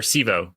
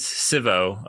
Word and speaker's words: Civo: easy to use um or sivo sorry i i initially called you guys civo um as a american